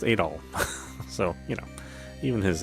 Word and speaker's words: Adol: Here, Adol is pronounced Adol.